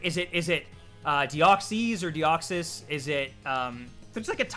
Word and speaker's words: Deoxys: Pronounce it however you want, you know? Deoxys, 100%.